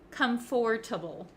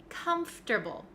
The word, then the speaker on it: comfortable: not really correct so even though it looks like come for table we don't say the o sound comforable we don't say that that we say comfortable comfortable so it sounds like it goes from F to T okay comfortable comfortable comfortable